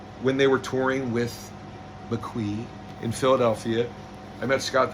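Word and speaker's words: MAQE: Smiles debut album is an album where the title is spelled M A Q E. I thought it was McKe and then uh a few months back I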